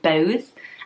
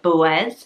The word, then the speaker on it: Boaz: When I first looked at this, I would probably say Boaz, and just say it in one long go because it's the OA, but you pronounce it like Boaz, and then the AZ is more of an is.